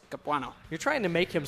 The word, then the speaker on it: Capuano: miss you Andy Dirks capanna we miss you yeah I can't believe you can't pronounce that name Romano Capano Chris Capuano you're trying to make